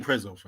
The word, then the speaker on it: Prezzo: Nando's is quite old pretzel pretzel what's it spell it again p-r-e-z-o so yeah what's that Italian Italian restaurant Italian you definitely seen Prezzo they're everywhere man it's somewhere that gal will